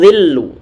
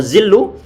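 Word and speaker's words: ظل: Tadi sampai lupa untuk huruf dha, dia ini pengucapannya adalah ujung lidah tempelkan ujung gisari bagian atas dan usahakan kalau seandainya nanti muncul zuzu wa zuzu berarti nanti atau zillu wala zillu berarti dia tidak mengeluarkan ujung lidahnya di ujung gigi jari bagian atas.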